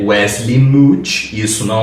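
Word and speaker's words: Mouch: E também Wesley Mut, que antes eu lia como M, tipo como se fosse mouth, sabe, de boca. Mas na verdade a pronúncia é m porque é uma piada.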